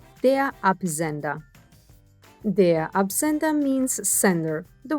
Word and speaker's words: Absender: why we have their ap zender and we have the er at the end which gets pronounced like an r they are appenda the absenta means sender